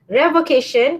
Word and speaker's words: revocation: of the first part revocation came from the word revoked but when it comes now then it is pronounced as a revocation so revocation of acceptance